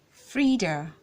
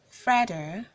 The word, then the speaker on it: Frieda: is called Frieda Frieda oftentimes people call this name Fredo given the fact that for the guy it's caught Fred and so they assume that for the lady it should be federal but and the female form of that name he doesn't have the s sound instead the letter e makes the e sound so you say Frieda and not freedom this name is cold